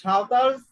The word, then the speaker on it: সাঁওতাল: Who live in hill tracts, the সাঁওতালস live in Rajshahi. এখানে দেখো বানানটা সান্তাল, SANTAL, কিন্তু আমরা যখন বাংলায় উচ্চারণ করব তখন করবে সাঁওতাল, ঠিক আছে? এটাকে ইংলিশে লেখার সময় সান্তাল এভাবে।